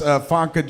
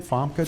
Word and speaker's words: Famke: How do you say her name? Famke. Famke. Famke or Famke. Famke. Like Fanta. Name like a movie that Famke was in with Matt Damon.